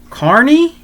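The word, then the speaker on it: Carny: I think it's called if I'm saying it right Carney like Carnival Carney step right up and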